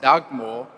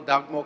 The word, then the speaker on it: Dugmore: Honourable Skosana, whilst the surname of Honourable Dagmore was indeed not pronounced Dagmore, it's also not quite clear to me that something else was really meant. So maybe Honorable Dugmore can go and have